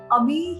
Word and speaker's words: Ami: एकदम सही करा है, अमी ही है नाम का प्रोनाउंसिएशन। हाँ, कई बार वो हो जाता है, कारण जब लोग AMI देखते हैं तो उसे AMY करके वो जो फ्रेंच या वेस्टर्न ऐसे समझ लेते हैं, परंतु मेरा नाम अमी